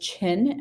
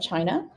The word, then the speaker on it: Qin: mausoleum of the first chin emperor of china and so hopefully you're hearing that chin that's how that qin is pronounced is pronounced chin and that's where the